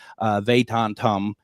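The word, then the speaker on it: Vedantam: Perceptions Tour with Shankar Vandentum. I practice, and I still get it wrong when it's actually on the air, and I am no good with pronouncing names, but it's Shankar Vatantum.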